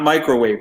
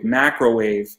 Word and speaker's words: Macrowave: And I'm just going to throw stuff out there where we got Mars, Charlie Vincent, Benadryl, Toxic Project, Light Tracer, Cyberwalker, Macrowave, not Microwave, Macrowave, Max Overdrive, and that's spelled ORVERDRIV, 1986.